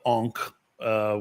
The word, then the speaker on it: encre: And I call it encre, which means ink in French. I can never pronounce it correctly, but you have to eat the C and the R.